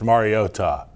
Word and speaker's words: Mariota: It's Mariota. Mariota. Mariota. Not Mariota.